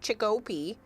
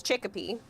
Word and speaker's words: Chicopee: So it's kind of sort of what it looks like, but it's not Chicopee. It's Chicopee.